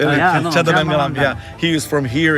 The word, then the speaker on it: Chendamangalam: Changdamangalam.